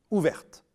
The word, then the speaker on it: ouverte: Notez que l'on prononce alors le t final au féminin ouverte.